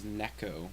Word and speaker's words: Necco: We're living off of river water and Nico wafers. The American dream. Nico wafers? They're just little cats? Yeah, well, those are Necos. Well, this is Necco wafers. Well, right. Is how it's pronounced.